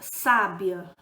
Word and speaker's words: sábia: tá então por exemplo a palavra sábia sábia a primeira a sílaba tônica é os a receber o acento sábia maria é uma